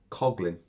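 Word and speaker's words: Coughlan: Michael, and he's now told me how to pronounce his name, because I've obviously been pronouncing it wrong all this time. Coughlin. Spelt C-O-U-G-H-L-A-N. Coughlin.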